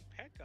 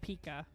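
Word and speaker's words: P.E.K.K.A: Oh, Pekka on the King tower. It's pronounced It's pronounced Pika.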